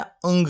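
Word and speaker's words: ङ: तो ध्यान रखिएगा, इसका उच्चारण होता है अंग की तरह, AANG। ये क, ये ख, ये ग, ये घ और ये अंग। तो इसका उच्चारण कुछ इस तरह से होता है, अंग की तरह। ये अणा नहीं होता, अणा तो टै वर्ग का 5वां व्यंजन होता है।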